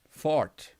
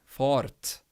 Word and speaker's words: fart: it's not a far farth fart you don't pronounce the r and the t hard they kind of mesh together and make the sound